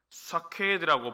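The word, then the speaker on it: שקד: 소명을 확신시켜주는 환상인 것이죠 살구나무라는이 히브리어 단어가요 사케들하고 발음을 하는데요 원래 뜻은 지키다라는 뜻입니다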